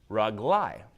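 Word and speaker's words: רגלי: but my feet okay then the letter that comes before the you'd instead of having a hearing Val here it gets changed to a pot talk which is gonna change the pronunciation of the word can you pronounce this word rug lie rug lie means not my foot but my feet okay same thing if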